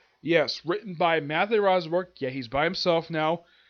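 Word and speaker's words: Rosenberg: Yes, written by Matthew Rosberg.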